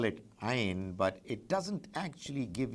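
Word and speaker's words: عين: Ain, I'm sure you must have noticed it when the Quran is recited. It comes from deep inside the throat, a very special sound, Ain, Ain.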